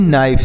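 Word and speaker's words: knife: नी, के एन ओ डब्ल्यू नो, के एन ओ टी नॉट, के एन ओ बी नॉब, के एन आई एफ ई नाइफ, तो इसे क्या पढ़ेंगे?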